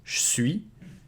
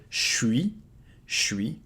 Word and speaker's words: je suis: will contract it, so you can devocalize the E and make it je suis, je suis. You can contract it even more to just keep the suis, suis. Here in North America, people will actually get rid of the I and it becomes suis, suis, je suis québécois.